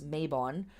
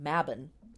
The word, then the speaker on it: Mabon: the sabbaths so um mabon or mabin we in America here often uh pronounce this mabon but the word is correctly pronounced mabin um is one of